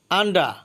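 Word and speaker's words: under: আন্ডা অর্থ নিচে বা অধীনে, এখানে আন্ডারের আন্ডার হবে না, আন্ডা আর এর উচ্চারণ হবে না।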